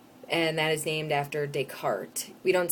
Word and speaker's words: Descartes: pronounced decart and uh you don't pronounce the S um well in English